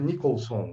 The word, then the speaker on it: Nichols: Tipo Jack Nicholson, né? Só que esse sem o som, né? É só Nichols.